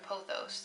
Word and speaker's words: pothos: that olive is is apothose or pothos depending on how you pronounce it p-o-t-h-o-s and that is